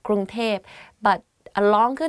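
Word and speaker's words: กรุงเทพ: people talk about bangkok they will say grunter because like conversation wise it's easier to to pronounce like that grunge tape but a longer name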